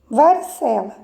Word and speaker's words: varicela: Varicela, cela, né? Tá marcado aí em negrito para vocês perceberem que varicela, cela, sé, é a sílaba mais forte. Portanto, a sílaba tônica é a penúltima sílaba.